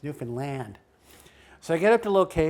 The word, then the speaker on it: Newfoundland: That's how they pronounce it, Newfoundland. So I get up to the location. Wait a minute, Newfoundland. Yeah, as opposed to Newfoundland. Got it. It's Newfoundland.